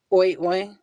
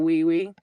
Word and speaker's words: oui: She's probably going to go oi oi. instead of wee wee. And it's OUI for wee.